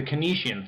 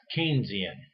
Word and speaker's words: Keynesian: a pop tart apparently the kinesian theory is not a theory at all one of my colleagues just told me that it's actually pronounced keynesian so the next slide